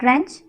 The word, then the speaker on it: wrench: The word wrench. Here W is silent letter in this word.